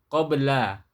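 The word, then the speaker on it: قبل: Kemudian yang qaf ya, qabla. Kalau bahasa amiyah Mesir jadi abla a ya, bacanya jadi a, pengucapannya jadi a.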